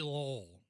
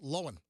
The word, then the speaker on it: Lohan: without moving your jaws like lindsay lowell like that no it's not it's it's lowen so uh lindsay lohan